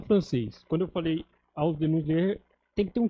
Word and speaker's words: Ausdehnungslehre: Eu vou ler o título em alemão, que o João não se arriscou, mas a pronúncia seria Ausdehnungslehre.